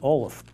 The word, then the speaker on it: Olive: burying ground was Anthony Olaf. Now, Anthony Olaf's name is actually spelled Olive, but it's pronounced Olaf.